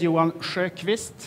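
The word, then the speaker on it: Johan Sjökvist: um as elena said my name is yuan schreikvist a swedish pronunciation chief development officer at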